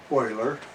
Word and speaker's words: Euler: In German it would be pronounced Leonhard Euler.